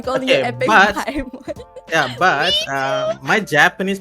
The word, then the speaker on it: Daemon: I heard you pronounce your name Demon? Is that Yep, how you pronounce your name? Yes, the official pronunciation is Demon.